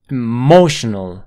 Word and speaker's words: emotional: her her emotional emotional aquí la palabra fuerte está en la segunda sílaba mo mo mo ahora al principio tienes una e corta emotional emotional Sí esa corta puedes cambiarlo por una sha emotional emotional emotional No hay ninguna diferencia emotional emotional Sí porque es una sílaba que no se estresa así que puedes reducirlo por una shua así te así no